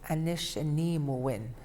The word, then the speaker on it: Nunavummiut: And I believe the proper way to say it is Nunavummiut, and that's basically Ojibwe.